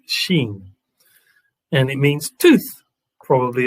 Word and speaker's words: Shin: 20 means judgment but it's actually called shin although it's pronounced sheen and it means tooth